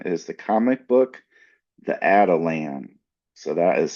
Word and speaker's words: Atalan: Also brought to you by Voices for Voices Publishing is the comic book, The Adelan. So that is spelled A T A L A N.